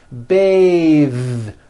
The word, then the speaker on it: bathe: unvoiced th Beth but when you change it into a verb to bathe the vowel changes to an a sound and the th is voiced bathe like in bathing suit